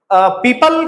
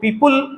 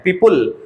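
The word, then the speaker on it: people: का जो प्रोनाउंसिएशन है, बहुत सारे लोग इसको पीपुल उल कह के बोल देते हैं, पीपुल, तो उल नहीं बोलना है, इसका जो करेक्ट प्रोनाउंसिएशन है वो पीपल है, पीपल, अल की तरह से साउंड आएगा।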